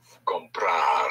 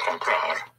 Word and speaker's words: comprar: The key to the whole present tense is to stress always the syllable before last of any verb. Therefore, if you want to say to buy, would be comprar. Comprar.